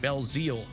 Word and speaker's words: Belzile: Florence Belzile, on that pronunciation, Belzile led the Huskers with 2 goals in the